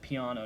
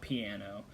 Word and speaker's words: piano: You pronounce that piano, not piano.